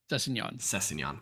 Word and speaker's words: Sessegnon: Could you pronounce the steak that starts with the word filet? What are you saying? I don't understand what you're saying. The cut of steak. Sorry. The cut of steak that starts the word. It's 2 words. The first one is filet. Mignon? There you go. That's how you pronounce it.